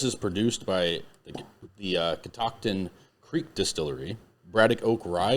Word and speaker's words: Catoctin: and at Catoctin Creek the name Catoctin is a regional name pronounced Catoctin I was saying it right the name derives from